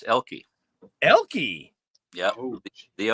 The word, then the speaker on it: Oelke: first e so did I get that right or wrong close the O is actually silent it's elky elky yeah the O